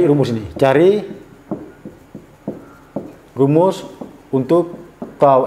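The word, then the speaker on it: τ: Tau, bacanya tau.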